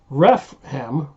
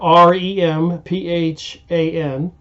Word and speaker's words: Remphan: so now it mentions ref mem saying it wrong REM from somebody who sent me a comment how to pronounce that properly but REM pH aan so Albert Pike is